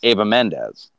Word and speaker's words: Eva Mendes: So, yeah, it's actually pronounced Ava Mendes.